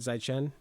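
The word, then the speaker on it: 再见: How do you say it? Zaichen.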